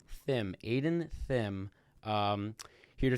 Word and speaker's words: Thimm: um how do you say your last name Thim Thim Aiden Thim um here to talk about his